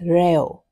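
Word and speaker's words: ρ: We pronounce it as rayo. It's equal to m / v. Rio is P density in kg per meter cube.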